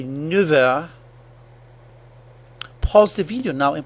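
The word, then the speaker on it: neuf heures: Its F sound changed to a V sound, F a V. We say 9 heures.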